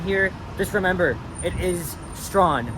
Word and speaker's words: Strachan: Behind me is Strachan Avenue. Nope, that's not how you pronounce it. It's pronounced as Strawn, okay? If you're a tourist that's visiting here, just remember, it is Strawn, not Strachan.